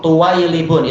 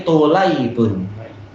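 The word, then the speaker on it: طُلَيْب: Yang lain di Indonesia baca apa? Apa itu? Tuwailibun, itu salah. Tapi tulaibun.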